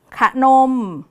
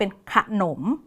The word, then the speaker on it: ขนม: เป็น สนาม นะ คะ พยางค์ ที่ 2 เนี่ย จะ อ่าน ออก เสียง ตาม เสียง หอ นำ เรา จะ ไม่ อ่าน ว่า สนาม ขนม แต่ เรา จะ ต้อง อ่าน ออก เสียง ตาม เสียง หอ นำ ก็ จะ กลาย เป็น ขนม และ สนาม ซึ่ง คำ พวก นี้